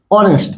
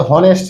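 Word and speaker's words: honest: অনেস্ট। এটা কিন্তু হনেস্ট না। অনেস্ট। এইচ এর উচন ঠিক নেই।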